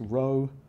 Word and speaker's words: rho: It's pronounced rho, R-H-O, row, row, row your boat, but not R-O-W.